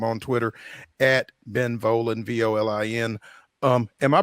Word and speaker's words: Volin: You can follow him on Twitter at Ben Volen, Volin. Am I pronouncing that correct? It's not Volin or anything like that. Okay, great. No, I say it rhymes with stolen, so you got it right.